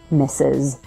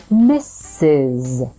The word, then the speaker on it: Mrs.: same as the word mrs. as in he misses you when you're away the first s sound is represented by 2 s letters so you start with Miss that final S is actually representing the sound Z so it buzzes your vocal folds or vocal cords vibrate mrs.